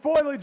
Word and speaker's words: foliage: Is it foliage or foliage? It's foliage. Foliage. It's three syllables.